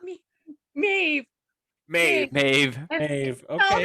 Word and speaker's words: Maeve: right maybe mavis no it's me me me maeve okay m-a-e-v-e and i i have heard it pronounced maeve maeve okay uh number three is